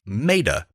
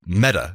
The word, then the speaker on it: Meta: and they're calling themselves meda meta sorry meta is the pronunciation uh and their logo